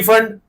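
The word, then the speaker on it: Pfund: तुमने सुनी है ये series, P फंड, P silent होता है सर, ठीक है मान लिया।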